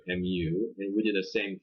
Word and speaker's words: mu: It's pronounced mu, mu.